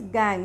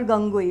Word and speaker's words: gangue: Now matrix or gangue, this is pronounced as gangue, not gangui.